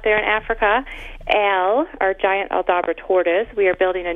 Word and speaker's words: Aldabra: Like, I'll have to find out how you pronounce that tortoise thing in just a minute. But Aldabra, did I get that right? Aldabra, yeah.